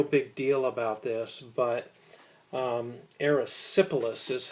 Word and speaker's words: erysipelas: Now, didn't make a real big deal about this, but erysipelas is how you pronounce it.